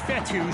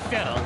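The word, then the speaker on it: Fetu: and that's complete so coach fethu spelled f-e-t-u for the longest time i was pronouncing it coach fetta like feta cheese so let's just say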